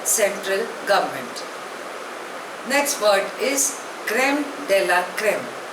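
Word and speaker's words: crème de la crème: commissioner by the central government next word is क्रेम della क्रेम spelling is सी आर ई एम ई डी ई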